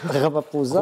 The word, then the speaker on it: Ramaphosa: Ramaphosa, on prononce le P.